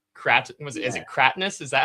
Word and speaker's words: Cratinus: Um, Krat, was it is it Katrness?